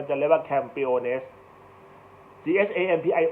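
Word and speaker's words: campeones: สเปน ก็ คือ Champion ก็ จะ เรียก ว่า campiones GS I O ภาษา อังกฤษ แต่ ถ้า เ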